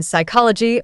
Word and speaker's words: psychology: in Gnome or sign the silent p in Psychology or receipt here are